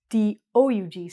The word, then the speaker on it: Doug: The past tense is spelled D-U-G, but the name is D-O-U-G. So we don't actually say the O. We don't say Doug. Hi, my name's Doug.